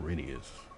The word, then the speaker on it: Reneus: Just like Reneus is pronounced Renius.